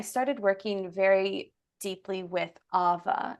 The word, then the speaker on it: awa: working very deeply with Ava it's here in Hawaii spelled AWA but it's actually pronounced with a V Ava and that is